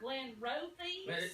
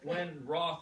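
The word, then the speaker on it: Glenrothes: i never heard of glenn rosie pronounced glenn roth a single malt whiskey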